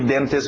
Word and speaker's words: dentist: Pronúncia rápida de dentist, uma palavra conhecida, todo mundo na hora de escutar dentist sabe o que é um dentist. Evitamos os T's, lembra? Então tira esse T. Dentist. Dentist.